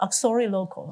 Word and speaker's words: uxorilocal: Auxiliary local. Oh, it's hard to pronounce.